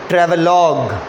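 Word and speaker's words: travelogue: पढ़ के देखो, ट्रैवलॉग, LOUGE का प्रोनाउंसिएशन है लॉग। हिंदी में जैसे लोग बोलते हैं ना, उसी में ल में ओ के जगह ल में औ की मात्रा लगा दो तो लॉग बोलोगे, ट्रैवलॉग। ये पहला कैटेगरी में रखा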